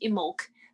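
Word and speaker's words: Imbolc: know it's actually pronounced emok the bee is silent if you're speaking in old irish which is where that word comes from um but yeah so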